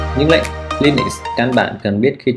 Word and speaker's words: Linux: Đấy, phải đọc là Linux chứ không phải là Linux hay là Linux gì đó.